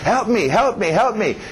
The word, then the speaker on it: help me: Help me. Engole o P, help me, né? O P e o M estão em conflito.